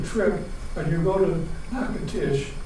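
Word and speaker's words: Natchitoches: and you go to nacotish or not to torches they pronounce it you'll see that it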